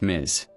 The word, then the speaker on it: Ms.: For all women, you can also use Ms., pronounced Ms. সব নারীর জন্য মিস ব্যবহার করা যায়, উচ্চারণ মিজ।